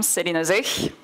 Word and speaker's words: Céline Zich: I am Céline Zich. This is how you pronounce that.